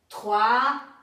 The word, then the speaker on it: trois: As palavras que terminam por S também não se pronunciam. Attention, lá vous avez d'un, alors, trois, anglais.